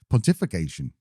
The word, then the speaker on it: pontification: Al: You're putting the emphasis on the wrong bit of the word.